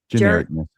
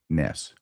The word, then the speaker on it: genericness: Genericness. What is it? Genericess.